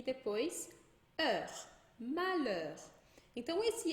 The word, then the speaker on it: malheur: Então, se a gente tiver um LH em francês, a gente vai dizer só o L. Então, por exemplo, eu tenho a palavra malheur, que é tristeza.